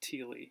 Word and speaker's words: Thiele: It's pronounced Thiele.